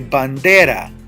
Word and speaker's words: bandera: do I say Bandera I say Bandera Bandera you can hear the voice it ends in a vowel it's the second to the last syllable do I need an